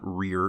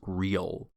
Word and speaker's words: real: the word real so be careful with that final l sound because i think it was sounding more like an r so it's not real it's real unfortunately some of these